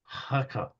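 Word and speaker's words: Hakob: It's actually Jacob, Okay. but it's pronounced Hakab. You got with that Russian kind of Hakab.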